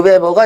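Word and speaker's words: Weber: 자본주의 정신 이라는 책을 쓰신 분도 배워요 그 베버가 2배 거에요 도기 사람입니다 자 베버 그러니까 이거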